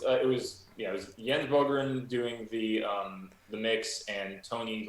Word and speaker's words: Bogren: And so Jens Brogan, did I say it right? Brogan? I think it's Bogren. It is Bogren.